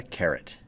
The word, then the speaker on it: caret: upward pointing V symbol this symbol is called a caret no not the vegetable